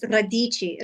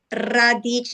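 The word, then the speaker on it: radici: you pronounce it you got to roll your r r radich it's r a d i c i radich that means roots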